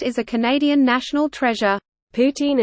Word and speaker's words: poutine: Poutine and Poutine are pronounced the same in Quebec French.